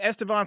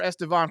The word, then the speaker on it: Estevan: no special call for estevan floreal even though estevan rhymes with gone great smile on that